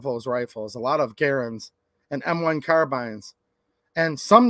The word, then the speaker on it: Garand: also find M1 garands you can call it the grand if you want I'm not like a pronunciation type person but it's a Garen his name was John